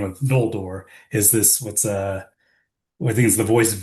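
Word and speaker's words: Ñoldor: type of n, but it's a much more narrow like n g sound that you kind of get in some of the other languages.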